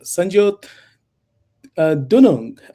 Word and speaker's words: Sanjyot Dunung: GI and we are honored to have uh Sanjot Dunong uh I'm sorry if I butchered your name.